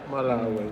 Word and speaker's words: Malawi: President of I always get mispronounce it. Malawi. Malawi.